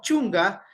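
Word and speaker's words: chunka: Sukta, Canches, Pusan, Iskun, Chunga. Recordemos que el chunga, ¿no es cierto? Se escribe con K, pero se pronuncia como la G en este contexto, la K.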